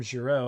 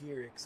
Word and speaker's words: Gierix: I keep accidentally almost calling him Giroux. I don't mean to. We all know it's pronounced Gierix now.